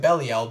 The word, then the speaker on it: Belial: see some videos with me still calling it belly out because that was the way that i like to think of the name because it sounds like belle's character name is in it um but the correct way of saying it in this case i guess is technically leo cool cool end of that